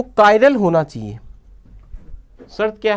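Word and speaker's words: chiral: यौगिक का अणु कायरल होना चाहिए, जिसको हम किरेल भी बोल सकते हैं, किरेल भी बोलते हैं इसको, कायरल भी बोलते हैं। एक्चुअल में प्रॉपर इसका प्रोनाउंसिएशन कायरल ही है।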